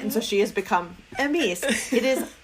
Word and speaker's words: Emese: Her name is spelled Emese, and I read it many times before I ever said it, and so she has become Emese. It is Emese.